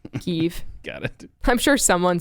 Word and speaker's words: Kyiv: was living alone in kiev kyb is that is that how they pronounce it there keeve keeve okay don't you say like you have something in your mouth keef got it i'm sure